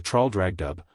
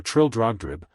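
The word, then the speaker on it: Traldragdubh: It contained a warrant for conducting me in my retinue to Traldragdub, or Trildrogdrib, for it is pronounced both ways as near as I can remember, by a party of 10 horse.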